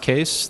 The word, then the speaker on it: Kees: It's pronounced Kees. The spelling is Dutch, and it's my grandfather's fault, but you can see me on Twitter there.